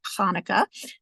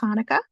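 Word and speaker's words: Chanukah: is actually in Hebrew and it is actually pronounced Hanukkah that CH that gutural German um gutural tone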